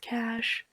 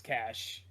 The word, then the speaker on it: cache: It's pronounced cash. I'm so sorry. It's driving me a little Yeah, bit crazy. it's cash. Okay. Okay, sorry. Okay, I think It's cash.